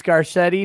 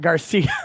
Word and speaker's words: Garcetti: the mayor's name wrong it's garcetti not garcia the nation matter of